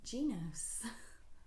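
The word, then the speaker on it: Gnoce: spelled out and according to them it is pronounced Goos which sounds like a coffee house or a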